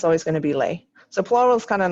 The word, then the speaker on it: les: We don't pronounce it with the S on the end. Lay. It's lay. And then in this last